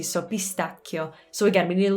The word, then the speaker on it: pistacchio: word for this one in english we say pistachio and we actually spell it differently we only have one seed whereas in italian there are two c's so the way to pronounce that word properly is pistachio pistachio so again in english we say pe in